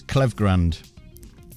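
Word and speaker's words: Klevgrand: was going through it it's clev Grand that's how they pronounce it yeah well no it's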